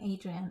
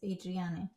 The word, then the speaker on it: Adriane: I've been saying Adrian and it's Adriane.